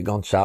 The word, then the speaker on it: Ganja: Et puis la deuxème ville, c'est Gcha avec 350000 habitants. Et oui, ça s'écrit Ganja.